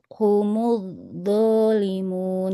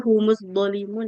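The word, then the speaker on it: هم الظالمون: Humud, humud, humud dzalimun gitu.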